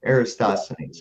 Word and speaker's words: Eratosthenes: I may be mispronouncing this. Eratosthenes, who in 276 to 194 BC carried out. Eratosthenes.